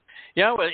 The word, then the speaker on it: Yahowah: The Y in Yahowah is pronounced exactly as we would pronounce the vowel consonant Y in English, like in the word yes.